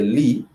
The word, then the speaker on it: li: So for this case, you do say li, the L-I syllable li, then before soma.